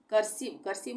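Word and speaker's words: cursive: यहाँ पे इसका उच्चारण ई हो जाएगा, आई नहीं होगा, कर्सिव।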